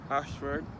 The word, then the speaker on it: Ayshford: Ash yeah Ria yeah Ashford as I said before this Ashford is spelled a y s h f r d right now I'm cool